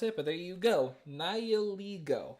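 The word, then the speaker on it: Nihilego: but there you go nio like nihilist but he plays with LEGOs a nihilist who plays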